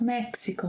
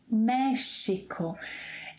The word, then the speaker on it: México: It's not Mexico, in Portuguese. México.